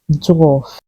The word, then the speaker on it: dwarf: pronounced DWF there's no R there it is pronounced dwarf here's an example Snow White and the Seven